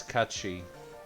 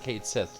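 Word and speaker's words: Cait Sith: yes catchy lovely and if you're wondering why we're pronouncing that that way it's an actual celtic term for one of the fae yeah before i knew that i used to pronounce it kate sith like everyone else same here and then i found out about it and it's like oh it's supposed to be catchy and now we're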